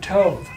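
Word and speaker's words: טוב: it's like toe, but Tov.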